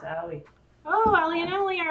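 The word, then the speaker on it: Ali: I think that's how you say it. A-L-I. Yeah. It's Allie.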